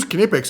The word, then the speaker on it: Knipex: kex your choice however either way you got to pronounce the k but let's talk about where these guys come from all right so kipic was founded in 1882